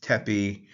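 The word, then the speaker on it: tpy: That is transliterated with the letters T-P-Y and pronounced tepi.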